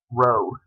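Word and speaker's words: rho: actually this Greek symbol which is called row spelled like this row that's for um population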